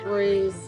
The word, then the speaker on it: Rory: Rory's 10. 10 years old. And these are 11. 11 years old. Golden Doodles, right? Golden Doodles. Minis. And speaking of Rory, it would rhyme with Tori, your wonderful Right.